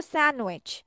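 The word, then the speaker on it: sandwich: যেমন আ স্যান্ডউইচ আমরা ডি উচ্চারণ করবো না। কি উচ্চারণ করবো না? ডিটা প্রোনাউন্স করবো না। আমরা বলব স্যান্ডউইচ।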